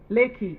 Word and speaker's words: Lekki: I think Nigeria you have Riki, do you call it Lekki or Riki? The toll road that government took back. How do you pronounce it? Lekki, yes, the Lekki toll road.